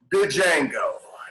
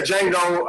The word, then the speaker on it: Django: gonna start off with django directed by what django i know it's pronounced uh quentin tarantino starring jamie foxx leonardo dicaprio christopher waltz the d is silent i'm aware i lose